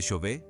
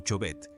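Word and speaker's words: Chauvet: La cueva de Shové, a menudo mal pronunciada como Choet, se encuentra en el sur de Francia, cerca de las gargantas del Ardesh.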